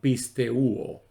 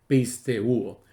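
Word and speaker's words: πιστεύω: verbo creer en griego se escribe y más o menos se pronuncia igual pisteuo pisteuo y que la palabra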